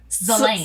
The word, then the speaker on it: Selena: Yes, it's like Selena, so it's Selena. Assume but it's all pronounced Zelena.